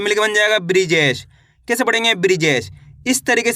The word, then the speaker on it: बृजेश: देखिए किस तरीके से ब में ऋ की मात्रा ब्री ज में ए की मात्रा जे श तो मिल के बन जाएगा बृजेश। कैसे पढ़ेंगे? बृजेश।